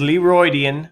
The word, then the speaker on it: Leroidian: And that's how you pronounce it, by the way. It is Leroidian. That is Leroy and Midian, because we started the channel together, compact together into one name.